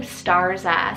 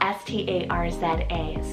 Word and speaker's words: Starza: something a little different i have the name starza spelled s-t-a-r-z-a starza next option on the boy side i